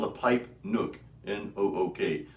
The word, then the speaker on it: Nook: I used to call it the Pipe Nuke. I know. Like we're gonna nuke the world with pipes, I started telling people I'm not bombing anyone. Yeah. It's Nook. It rhymes with hook.